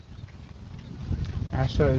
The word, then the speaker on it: ASHA: and Asha. Yeah. Very nice to meet you. Asher. It's Asha. I'm so sorry. Oh. It's not common. That was close. See you later. ASHA is the acronym for the professional organization associated with my career.